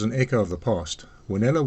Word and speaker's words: Wanela: Wanella was the local pronunciation for the WNLA, the Witwatersrand Native Labour Association.